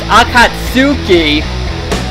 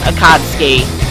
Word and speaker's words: Akatsuki: they pronounced it wrong it's supposed to be pronounced akatsuki when in fact it actually is pronounced akadsky they got it right and the fans are